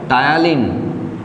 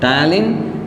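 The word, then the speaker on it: ptyalin: প্রথমেই নাম বলতে হয় টায়ালিন, পি সাইলেন্ট আছে, টায়ালিন, যারই নাম স্যালিভারি অ্যামাইলেজ, স্যালিভারি অ্যামাইলেজ।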